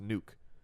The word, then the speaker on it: Nuk: about this we clarified even though it is spelled nuk it's still pronounced nuke isn't that what I